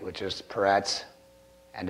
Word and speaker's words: Peretz: So we are looking at Perez today, Peretz. If you think of it in Hebrew, that's kind of how it's pronounced, Peretz, but we put a Z on it because we don't really end in many things.